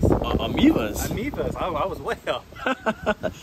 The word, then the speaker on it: Ameivas: We're gonna attempt to catch some of these green, how do you say, abanis? Ameivas.